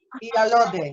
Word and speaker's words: Iyalode: when it was mentioned that I think it's Iyalode. Am I pronouncing it correct? Iyalode.